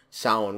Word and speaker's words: Samhain: from the second one with Samhain or sound which is actually how you say it I loved it I